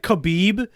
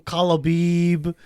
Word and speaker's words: Khabib: on camera when I said uh Joey Diaz mispronounced Allahu Akbar as Abuabak or instead of like Khabib cuz you know the UFC fighter Kabib. Yeah. He called him Kalabib.